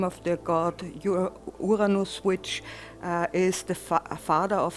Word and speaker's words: Uranus: Why am I pronouncing it Uranus, which sounds more German? If you try the English version, you always get quite a lot of laughter, and so astronomers try to pronounce it Uranus and not the other way around.